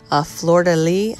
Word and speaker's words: fleur-de-lis: to go ahead and make this little ornament fleur-de-lis i believe it's pronounced we're using an iod mold and we're